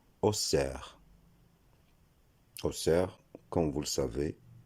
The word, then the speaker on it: Auxerre: Même si ce nom s'écrit avec un X, la prononciation ne sera pas Auxerre, comme dans le nom auxiliaire par exemple, mais ce nom se prononcera Auxerre.